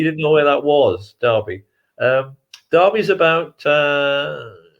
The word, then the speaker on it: Derby: you'd heard of and it's pronounced darby not at derby i know you have